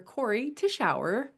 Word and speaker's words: Cory Tichauer: Corey Tishau. Yay. To the show. And I pronounced it properly, so that's a double yay.